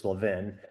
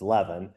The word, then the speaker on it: Levin: name is Levan, everybody calls me Leavvin because L vin is pronounced Levin here and in the east coast It's Levan, so that's why I pronounce it Levan.